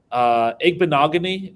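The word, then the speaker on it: Igbinoghene: Igbenogany is had the pronunciation, by the way. That was close. Like eggnog, yeah.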